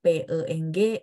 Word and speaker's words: peng: Mandarinnya temannya saya ya P tidak pakai h p e n g ya memang bacanya angin tapi tulisnya tidak ada PH ingat bahasa Mandarin ingin tidak akan ada PH selama-lamanya ya adanya pengg memang bacanya ada angin ya benar temannya saya ya